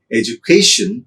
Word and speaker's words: education: Well, a word such as education is stressed on the syllable k, education, because when a word is suffixed by ion, it is stressed on the penultimate syllable. Therefore, education.